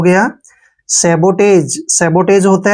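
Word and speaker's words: sabotage: से टे पढ़ेंगे और जीई का उच्चारण ज करेंगे ऐसे सबोटाज क्या हो गया सबोटाज सबोटाज होता है तोड़फोड़ तोड़फोड़ ठीक है ना सबोटाज ब यहां पर सोटेस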